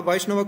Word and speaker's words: Vaishnava: Vaishnava comes from the word Vishnu. You could have said Vishnuava, yeah. But because of Sandhi inside the word, it becomes Vaishnava. It's more easy to pronounce.